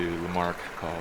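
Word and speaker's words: Lamarck Col: Lamar lar Lark call I was saying Lamar Lamark and he corrected me places are to L Mark call so big climb it's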